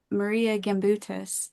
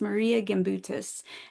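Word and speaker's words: Marija Gimbutas: she's passed away now but her name was Maria gutus and she was a Lithuanian archaeologist um that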